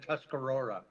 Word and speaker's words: Tuscarora: How you pronounce it is Haudenosaunee and Tuscarora.